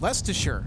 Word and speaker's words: Leicester: It's pronounced Leicester.